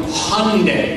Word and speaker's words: Hyundai: When you walked into our banquet facility here in Bolingbrook, you saw a brand new Hyundai, all right? Rhymes with Sunday, all right?